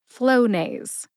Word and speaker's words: Flonase: Put both syllables together and you get Flonase. Emphasize flow. See if you can hear the emphasis when I say it again. Flonase.